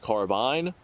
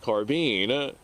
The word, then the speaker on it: carbine: so is it pronounced carbine or is it pronounced carbine typically carbine is more of a military designation more of a military use and carbine is more of a Hollywood Movie video game pop culture use now